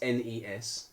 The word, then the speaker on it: NES: our pronounce and pronoun pronunciation of Nez saying it's NES it's however it's not